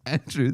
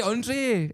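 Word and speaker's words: André: Don't make me say that you've said it wrong, because you know you've said it wrong. It's Andrew the Giant. You know it's Andre? What do you think that's French for?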